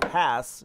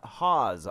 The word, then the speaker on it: Hass: Tens of millions of Hass, not Haas, avocado trees. Brokaw has a simple answer to this question of pronunciation. Because that's how Mr. Hass liked to pronounce his last name.